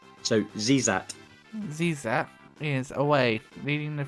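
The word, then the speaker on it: Xezat: however you pronounce it X's are often pronounce it as Z's if an e is right afterwards so zat zat is away leading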